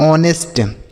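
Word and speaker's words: honest: टी को पढ़ते हैं ऑनेस्ट। यहां पर एच साइलेंट होता है तो इसे पढ़ेंगे ऑनेस्ट। ऑनेस्ट नहीं ऑनेस्ट।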